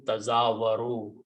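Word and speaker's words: تزاور: The letter is there, the meaning is there, but we are not pronouncing this first ta here. So we are pronouncing tazawaru, which is the word in the Quran.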